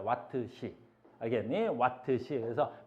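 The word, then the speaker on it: Wh: 왓트 아워. 근데 우리나라 사람들은 이걸 뭐라고 읽냐면 이걸 시간을 사용했다. 그래서 시라고 읽어. 시라고. 시로 왓시 이렇게 구별하기 위함이야. 초와 시를 구별하기 위해서 이걸 왓시라고 읽는 거야. 왓트 시 알겠니?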